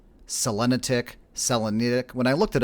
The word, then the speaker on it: Selenitic: At least, you know, I've had debates whether it's Selenitic, Selenitic. When I looked it up, pronunciation of it apparently is Selenitic.